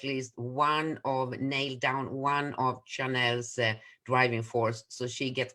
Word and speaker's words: Chanel: And with us, we have a girl or a woman whose name is Chanel. Did I say it right? Yes, Chanel.